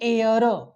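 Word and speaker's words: heir: दिलेले आहेत ते पहा याच्यामध्ये पण एच आहे मित्रांनो उच्चार होतो एअर एअर चा अर्थ होतो काय की पुरुष वारस म्हणजे एखादा मुलगा जर वारस वारस असेल तर त्याला एअर असं म्हटलं जातं इथे पण एट चा उच्चार होत नाही आणि म्हणून म्हणून इथे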